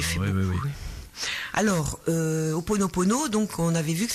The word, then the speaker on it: Ho'oponopono: je pensais que développer un petit peu l'outil Ho'oponopono, c'était adéquat par rapport à Noël.